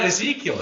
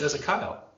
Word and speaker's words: Ezekiel: No, it's not Ezekiel. It's Ezekiel. Abaddon.